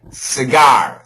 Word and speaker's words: cigar: job yeah and Evan how do you pronounce this word SE it's actually cigar cigar cigar okay cigar